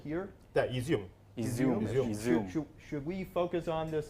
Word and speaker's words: Izium: Maybe Izium. Is that, am I pronounced right? That small town right here. Yeah, Izium.